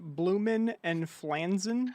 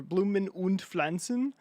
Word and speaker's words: Blumen und Pflanzen: This one is Blumen and Flansen, or Blumen und Pflanzen. Blumen und Pflanzen. Blumen und Pflanzen. Yeah, you gotta say it like that.